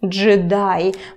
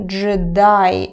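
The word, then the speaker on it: джедай: to five job on jedi by the way pay attention to the stress here jedi it's not jedi like in english it's so one more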